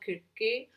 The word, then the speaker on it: Circe: It is Circe. I know that in Greek it is called Kirke.